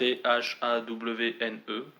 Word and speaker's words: Thawne: Donc, j'ai jamais vraiment su très bien le prononcer. C'était Sohn, Tone, machin. En tout cas c'est Thawne.